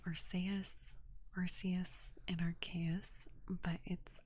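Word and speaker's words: Arceus: sorry rks I always I've always said it arus but it's actually pronounced archus and it kills me inside um but with Ino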